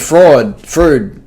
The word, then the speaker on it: Freud: There's Sigmund Freud.